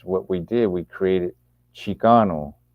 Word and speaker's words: Chicano: Forbes in his book Aztecas del Norte talks about Chicano is like kind of like a it's kind of like a it's pronounced Chicano, but it's kind of like a derivation of Mexicano and even the Nahuatl word Mexica, right?